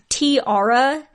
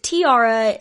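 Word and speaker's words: T-ara: Now, let's talk about a girl group named, I think it's Tiara. It's spelt T-A-R-A. So I think it's Tiara, like a tiara, like a crown.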